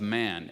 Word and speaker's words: Man: this is around the city of man ma n or as it's pronounced in French mom and this is an